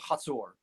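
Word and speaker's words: Hazor: told by the scholars and the archaeologists it's pronounced I I take the word so there's there's Jericho I and a city called Hatsur Ho R.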